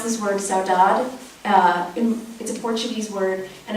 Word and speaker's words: saudade: me this is worth knowing so you can pronounce this word saudade in the Portuguese word and it sort of